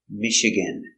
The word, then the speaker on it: Michigan: to Charlotte North Carolina very good the State Michigan it's a French word soft sound Vish Michigan stress only Percival Michigan is a big state